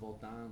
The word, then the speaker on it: Votan: Okay, it's pronounced Votan, but everyone says Votan, whatever.